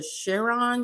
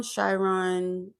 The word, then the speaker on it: Chiron: Um, it's either Chiron, Chyon, it's C H I R O N, I believe, and it's in Aries right now.